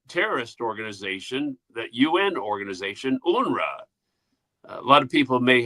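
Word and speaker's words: UNRWA: It's been a lot of the news is pronounced UNRA.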